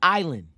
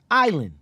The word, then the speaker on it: island: it's a French word Island comes from insole the S is silent because the French thought leaving the s in the word made it look more Latin facts just take